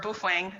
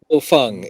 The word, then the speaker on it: Baofeng: And my husband, he bought the Baofeng and or Boofwang, someone other YouTuber says it. But They all work. Yeah. so I got the Bofeng. Bofeng. Bofeng is the pronunciation.